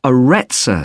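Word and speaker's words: Arretsa: be interested in that's got a rather strange name it's called the arezza center that's spelled a double r e t s a okay they've got a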